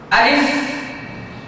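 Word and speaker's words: ا: আপনারা আবার লক্ষ্য করুন আলিফ আলিফ আলিফ আমি যখন আলিফটা উচ্চারণ করছিলাম তখন আমার উপরের দাগ নিচের ঠোঁটের পেটে এসে সর্বশেষ লাগতে ছিল যেমন আ লিফ আ লিফ সবাই আমার সাথে একসাথে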